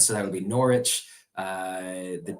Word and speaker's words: Norwich: The W is silent, so that would be Norwich.